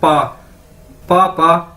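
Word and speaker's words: 爸爸: Chinese के अंदर मैं आपको बता दूं कि बी जो होता है वो पी के तरह प्रोनाउंस किया जाता है, यानी पी बोला जाता है, पे बोला जाता है, यानी ये बी ए मतलब पा, पापा, ठीक है, जिस तरह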